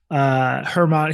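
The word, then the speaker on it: Germán: at Vox just yesterday, Herman Lopez wrote about how police probably reduce crime, which I think is a pretty well-grounded finding, but it's controversial in the Voxosphere. Herman, his name is spelled German, Herman Lopez, he's honest.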